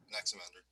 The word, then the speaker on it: Anaximander: you kind of see, like, how do you pronounce the name of his, like, the next person that comes in the lineage? Anaximander? Anaximander.